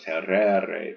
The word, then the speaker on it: terrere: part in the air that's a long e because it has the ao tereo terrere terui territos you want